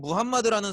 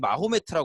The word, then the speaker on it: 무함마드: 있었는데 어 이슬람교를 다시 이렇게 바라보면 기본적으로 창시자는 무함마드는 사람이고요 어 보통 이제 옛날 좀 오래된 책들에는 마호메트 쓰여져 있기도 해요 근데 마가 좀 더 현지에